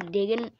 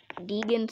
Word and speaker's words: Deegan: in the lead haley diggin deegan somewhere in the top ten i said her name wrong i think i said dagon which is not even what that sounds weird great racing i wanted